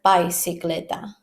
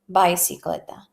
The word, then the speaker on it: bicicleta: Remember that I in Spanish is E. E. Don't be confused with I, because sometimes I have heard bicicleta. Bicicleta. That's not the right way to say it.